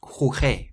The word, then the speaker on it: jugué: The reason why there's an extra U in jugué is so that you keep the harsh G sound. Without the extra U, it would be pronounced jugué, which isn't right.